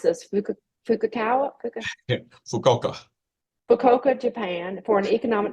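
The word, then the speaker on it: Fukuoka: I meant to ask you Joseph how to pronounce this fuk fuka fukoka fukoka Japan for an economic development firm conducting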